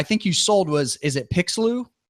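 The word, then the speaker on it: Pixloo: Is that how you pronounce it? Correct. Yep. And then the company that I think you sold is it Pixeloo?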